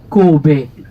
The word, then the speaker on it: Kobe: Or, il se trouve que le mot Kanbei, écrit en caractère chinois, en kanji, peut se prononcer soit Kanbei, soit Kobe.